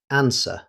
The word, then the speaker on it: answer: The spelling can be misleading because the W is never pronounced. Native speakers simply say answer.